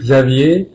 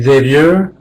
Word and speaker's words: Xavier: all my efforts of so in French it would be Xavier in American it would be Xavier in Spanish it will